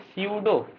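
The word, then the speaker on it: pseudo: Gaseous vacuole को एक और क्या कहते हैं, स्यूडो, पी लिखा हुआ है लेकिन ये इसको स्यूडो करें, पी साइलेंट है, स्यूडो वैक्यूल।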